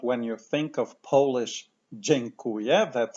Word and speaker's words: dziękuję: Je, je, kuje, kuje, dziękuję, dziękuję.